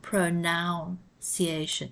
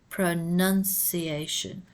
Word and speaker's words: pronunciation: guidelines pronunciation of you also notice the spelling of pronunciation it is not with a second o it's not pronoun creation it's pronunciation of you long vowel u